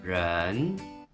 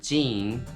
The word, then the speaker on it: 人: It's pronounced in Mandarin, 人, 人. In Japanese, it's pronounced jin or nin for onyomi, jin and nin, and hito for kunyomi.